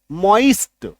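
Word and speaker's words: moist: मोइस्ट एच होइस्ट ठीक अब इसका उच्चारण आप कहीं कहीं डिक्शनरी में आप देखेंगे मॉस्ट ये य भी लिख ई के जगह प य लिखा हुआ आपको दिख सकता है हस्ट लेकिन यह उच्चारण थोड़ा सा कम सही है सबसे ज्यादा सही कौन सा है ये वाला यानी कि ओई ये वाला ठीक है तो इसको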